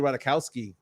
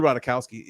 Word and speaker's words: Ratajkowski: Oh, Chris Gonzalez saying Emily Ratajkowski. That is a very good 2 seed potential. Emily Ratajkowski is amazing, dude.